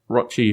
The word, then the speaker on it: Rochi: I did want to record a little bit about the lead pile, because the lead pile, I'm long-standing working with Rochi, whose name rhymes with crotch, and that will be coming to an end pretty soon.